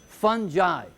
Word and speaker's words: fungi: here's a tricky one the G changes pronunciation fungi okay remember what we